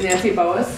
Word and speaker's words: Nancy Boas: Starting with the furthest away from me over here on my right is Nancy Boas. Did I pronounce that correctly?